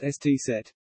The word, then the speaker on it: ess-zett: The most noticeable change was probably in the use of the letter, called Scharfs S, Sharp S, or SZ, pronounced ST set.